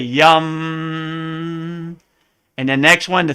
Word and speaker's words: Yam: so the next one looks like yam the heart chakra but it's really yum and the next one